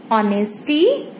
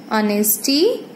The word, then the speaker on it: honesty: words you can see those H are silent and we are pronouncing it from vowel sound.